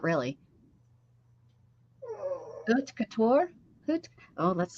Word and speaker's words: haute couture: Haute couture?